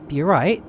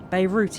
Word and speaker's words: Beirut: Beirut even. I don't know why I keep messing that up. Beirut. Yeah, so we're flying from Paris to Beirut.